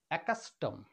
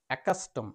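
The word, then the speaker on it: accustom: ক এর মত একাউন্ট নেক্সট ডাবল সি এর পরে ইউ রয়েছে এই ডাবল সর উচ্চারণ ক এর মত একাস্টম একাস্টম শুধু ক এর মত উচ্চারণ ওকে ডাবল সের উচ্চারণ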